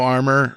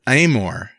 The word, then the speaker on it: Amore: move on to stano armor or aore stoore how do you say this stano armor for steganography it's Amore and not armor I misread that yeah